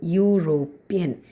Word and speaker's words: European: But what's the sound or the pronunciation is y. European.